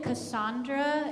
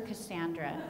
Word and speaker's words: Cassandra: Okay, so you can pronounce it Cassandra if you want, but I prefer Cassandra. We think that's a little more accurate to the ancient meaning.